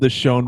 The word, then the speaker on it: Deshaun: It still said yeah, no, it's spelled Deshaun. I know. Deshaun. I have to give I'm white. I'm going to read it like a white man. It's Deshaun.